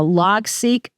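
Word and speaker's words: Logseq: some really cool free open- source tools uh log seek which is spelled l g SE e q and something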